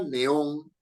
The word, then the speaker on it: neón: s ni en vocal si yo digo la palabra Neón Neón este foco con luz blanca Por cierto largo no Neón quiere dos sílabas Neón No es cierto Neón Neón dos sílabas no Y esta lleva acento porque se trata de una palabra aguda porque la fuerza de voz está en on uno no dice Neón